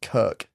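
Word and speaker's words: Krk: Neves, Dino, and Leone were on holiday in the Croatian island of, I think it's pronounced Kirk. It's got no vowels.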